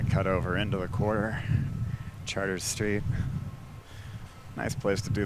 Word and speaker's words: Chartres: Named for the French city of Chartres. We don't say Chartres, we say Chartres.